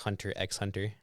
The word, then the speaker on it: Hunter x Hunter: my last one is a hot take it's pronounced Hunter x Hunter so mine is even an honorable mention